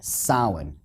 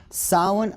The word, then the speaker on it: Samhain: call it souring now when you look at the name it looks as if it's saying Samhain or something like that no no no this is properly pronounced and the ancient Gaelic as sowon sowon according to occult